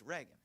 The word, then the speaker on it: Reagan: give the talk says now you sure you sure it's Reagan not rean it's Reagan oh yeah it's Reagan